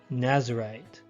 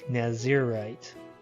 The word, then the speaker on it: Nazirite: Nazarite. A more appropriate pronunciation would be Nazirite.